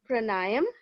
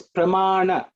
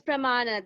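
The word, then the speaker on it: pramāṇa: uh sister asked about shastra pranayam yeah it's pramana oh it's pramana that's what confused me because it's uh written pranayama i read it wrong so i read it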